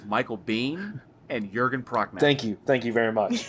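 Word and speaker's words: Jürgen Prochnow: It's Michael Bean and Jurgen Prochnow. Thank you very much. It's okay. I would have butchered Chrissy- it too.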